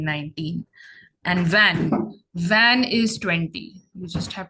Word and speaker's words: vingt: And van is 20. You just have to remember that. Van. It's written as VINGT, but it's pronounced as van.